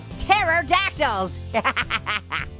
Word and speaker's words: pterodactyl: Oh no, pterodactyls. Hey, why can't you hear a pterodactyl go to the bathroom? Cause the pee is silent.